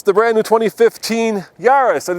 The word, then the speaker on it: Yaris: company and of course the answer is this yarus so let's uh see how these small cars